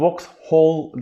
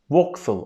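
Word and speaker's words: Vauxhall: boks ov foxhol Arkadaşlar bu volksw ol değil boks full olarak telaffuz ediliyor bir sonraki istasyonu ismine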